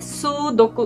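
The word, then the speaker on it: 数独: और इसकी सही प्रोनंसिएशन है सुदोकु।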